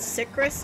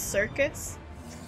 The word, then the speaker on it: Syrcus: Life is a oh, it's not Syrcus, it's Syrcus. I didn't know that. I've been saying it wrong this whole time.